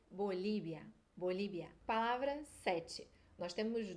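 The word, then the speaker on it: Bolivia: a sexta palavra é Bolívia Bolívia o que que mudou aí o ver vai ter som de bebê na maioria dos países tá não são todos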